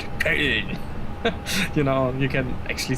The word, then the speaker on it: Köln: No, yeah, in English it's Cologne, you know, but you know, Köln. It's this German way to say it, Köln.